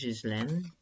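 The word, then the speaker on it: Ghislaine: land Maxwell Epstein's Precure I think the pronunciation is his land so people want to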